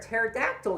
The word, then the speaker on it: pterodactyl: Why can't you hear a pterodactyl using the bathroom? Because the P is silent.